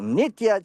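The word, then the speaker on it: Nitya: And then more recently, Guru Nitia Chaitanya.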